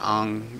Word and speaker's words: Aang: Chinese, which, you know, the name is kind of, it is more of an ang, where it's a softer sound, not a g sound at the end, like we say it.